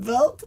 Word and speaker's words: Vilk: And that's like milk with a V. People are always curious about that Lithuanian name Vilk, but it's really very easy to pronounce.